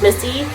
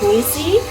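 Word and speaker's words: Misi: one in there but she's amazing she owns Missy it's uh spelled m i s i so people think it's pronounced mey um it's an amazing Italian restaurant in Brooklyn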